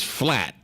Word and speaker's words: flat: But last but not least, you can say your stomach is flat, but the L is silent.